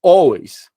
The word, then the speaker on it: always: a Apple Olha só todas começam com a After always você ouve ó e você tá com a cabeça ainda no português você acha que ó começa com o porque o som é alway Apple e Apple eu